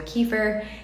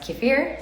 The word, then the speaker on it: kefir: kefir, and it's not, sometimes it's pronounced kefir, sometimes it's kefir. In America, I think we mostly say kefir here, but a couple people have told me that it's pronounced kefir. I think it's like a tomato-tomato situation. I don't think it really matters. When it comes to making